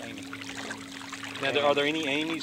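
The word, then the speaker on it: Amis: That's how they pronounce the A-M-I-S? A-M-I-S, Amy.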